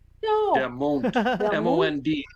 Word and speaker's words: Mond: Der Mond. Der M-O-N-D. Mond.